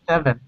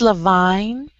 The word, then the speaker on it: Levine: Neil Levin. Yes. He points out that... I think that's Levine. Levine? Because it has an E on the end.